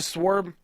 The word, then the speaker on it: sword: you live by the sword you die by the sword it's sword sword's a w in Sword